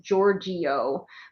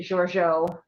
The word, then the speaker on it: Giorgio: If you were to pronounce it with a very flat American accent, it's Giorgio, but we pronounce it Giorgio, and I call her Jojo.